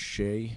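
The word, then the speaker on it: Shea: My name is Shay. S H E A R A Y H N.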